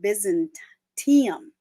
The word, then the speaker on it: Byzantium: During that time, he established an early Orthodox church in the city of Byzantium. I always want to say Byzantine. Byzantium.